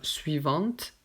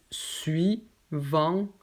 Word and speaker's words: suivante: je prends le mot suivante, il y a juste deux syllabes. Il y a suis, donc une syllabe, et ensuite vente. On ne dit pas suivante, non, juste suivante, donc en deux syllabes.